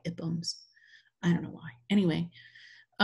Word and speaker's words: IPUMS: on this project, and they say that's how they pronounce it, is not with a long I, but the short I, IPUMS.